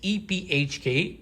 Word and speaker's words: EPHK: This one is by Patrick Kindlon, and the artist's name is EPHK. That's how you pronounce it. I'm not just saying it, but I asked him, and this is what he told me.